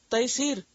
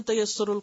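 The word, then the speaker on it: تیسیر: है यर यय सर तैसीर व एक तफसीर भी है तैसीर कुरान तो लोग उसको पढ़ते तसर कुरान अक्सर लोगों को मैंने यह गलत तरीके प्रोनाउंस करते सुना व है तैसीर कुरान तैसीर का मतलब आसान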